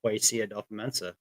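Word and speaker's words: Kwesi Adofo-Mensah: Like I listen to podcast for podcast, and I hear him pronounce his name. So Kwesi Adolfo-Mensah.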